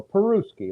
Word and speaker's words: Peruski: I go on stage I go I go perus ski like the country Peru and ski skiing and he goes oh